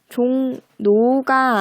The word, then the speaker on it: 종로: 하지만 이거 발음은 어떻게 됩니까? 리을 오가 아니라 니은 오로 발음이 돼요.